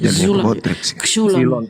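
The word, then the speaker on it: ξύλον: X Bodrex x u l o n kok silon silon ya silon bacanya silon Ya ini ini Coba bantu tem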